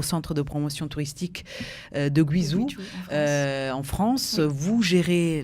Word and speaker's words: Guizhou: Donc Tourisme Guizhou sur Facebook. Alors Guizhou, c'est la prononciation française, voilà. En chinois c'est Guizhou, c'est ça.